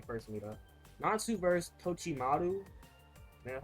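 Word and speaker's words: Totomaru: Natsu versus Tochimaru.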